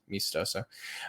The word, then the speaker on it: meastoso: at me estoso it's it looks me estoso that's how it's spelled and i just pronounce it mistoso um and you can